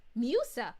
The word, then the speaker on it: Musa: Note, her name is pronounced Musa.